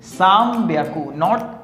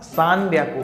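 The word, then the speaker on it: さんびゃく: लिखते समय हम यह 'एन' है। मुझे लिखना होगा। लेकिन कहने का समय आ गया है हम इसे 'm' कहते हैं। ' उच्चारण के लिए होगा। ठीक है? सैम-बियाकू, सान-बियाकू नहीं . यह सैम है- बियाकू.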